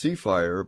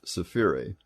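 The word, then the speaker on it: Sefire: and safiri is s-e-f-i-r-e it looks like it should be pronounced seafire but it's safiri we've talked about the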